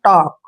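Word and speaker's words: talk: है ध्यान रखना है यदि के से पहले किसी वर्ड में एल आए तो एल का उच्चारण नहीं होता है जैसे यहां पर हमने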